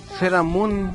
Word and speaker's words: Sailor Moon: Seramun es su pronunciación original, o sea, correcta.